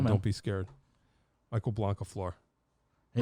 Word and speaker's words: Blancaflor: Michael Blancaflor.